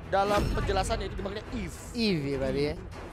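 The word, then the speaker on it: Yve: Eve ya berarti ya. Eve gitu.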